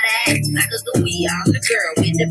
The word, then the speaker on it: Sacagawea: But y'all know me, Sacagawea with a hard G.